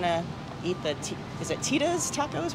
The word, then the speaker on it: Thyda's: I mispronounced it and said Thyda's, but it's actually Thyda's.